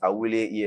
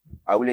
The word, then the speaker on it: Awuley: can catch me everywhere on social media at Awuley ESQ. Awuley is spelled AWULEY, then ESQ Esquire.